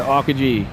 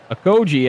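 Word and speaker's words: Okogie: He's back over to Okaji. Okoji actually is his name. So I've been saying it wrong, but it's a good thing I have the PA announcer pronouncing these names for me too.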